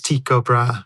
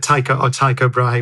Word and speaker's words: Tycho Brahe: this was data from, I always mispronounce his name. I think the correct pronunciation is Tycho Brahe, right? Tycho Brahe, whatever, however you pronounce it in Danish, I think it's Tycho Brahe.